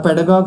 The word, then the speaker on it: pedagogue: And its pronunciation is stress on pet syllable, and here's a usage. A pedagogue whose classroom lessons consist entirely of reading directly from the textbook in a monotone.